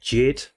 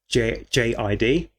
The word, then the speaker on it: JID: And the last time I heard JID, and potentially the only time I've heard JID before, and I think it's pronounced JID, JID, was on the track Fuel, and that was on Eminem's album.